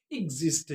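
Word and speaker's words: exist: ई एक्स आई एस टी को क्या पढ़ेंगे एजिस्ट क्या पढ़ेंगे एजिस्ट क्या पढ़ेंगे एजिस्ट तो एजिस्ट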